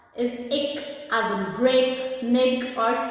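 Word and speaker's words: ਇੱਕ: So let's now learn how to pronounce these numbers. The number 1 is ik as in break, nig or sick.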